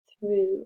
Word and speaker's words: through: e word communicate communicate through song and dance through it's a tricky spelling th or o u g h there's a silent g through song s o